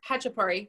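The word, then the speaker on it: khachapuri: the ketchup query or hachipari it's a silent k yeah it's ha ha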